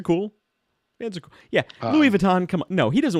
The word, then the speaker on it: Louis Vuitton: and uh no no it took me a long time to realize it was pronounced Louis Vuitton I called it Louis